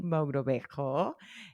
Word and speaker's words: Mogrobejo: conversation I'll be having with my friend Mogrobejo. Am I pronouncing that right?